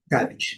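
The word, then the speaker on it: cabbage: Lembrando, primeira sí forte, o a conção de i e a letra e não é pronunciada. Cabit, que é o nosso repor e o nosso empor, né?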